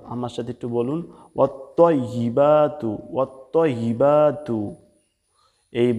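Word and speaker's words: وَالطَّيِّبَاتُ: এজন্য খুব সতর্ক হয়ে বলতে হবে, এখানে যাতে তা না হয়ে যায়, এখানে তোয়া দিয়ে বলতে হবে ওয়াত্তাইবাতু। আমার সাথে একটু বলুন, ওয়াত্তাইবাতু, ওয়াত্তাইবাতু।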